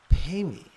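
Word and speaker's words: padme: a source of blessing pay me is the pronunciation of pme which is lotus Lotus here is a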